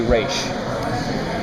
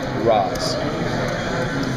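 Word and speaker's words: Ra's: If you are outside of the League of Assassins and someone who is rogue and it's a way of disrespecting the leader, you say Roz.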